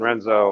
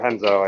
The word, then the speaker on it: Renzo: That last race was really close between Nolan and Renzo, or Henzo, I think is actually how you say his name.